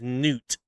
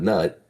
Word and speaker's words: Nut: The the casters, the procasters, they say her name is Noot. I think that's how it's pronounced. Cuz if you remember in Smite one when he used to tell that joke, they literally made it a point to make it a joke. They're like, I don't know why they pronounce pronounced my name wrong. It's N, not Nut.